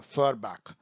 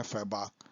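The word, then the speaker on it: Feuerbach: Okay, the author of the thesis on फरबैक। अब मेरे pronunciation में जाइए, फॉरबैक भी कह सकते हैं, फॉरबैक कह सकते हैं, फ्रेंच है ये तो, सॉरी जर्मन है फैबाक।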